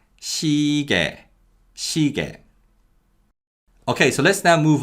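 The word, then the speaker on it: 시계: on your wrist and the y glide in the second syllable weakens so this word is pronounced shige okay so let's now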